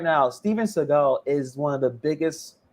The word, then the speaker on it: Seagal: And also, his name is not pronounced Seagal; it's Seagal or something like that.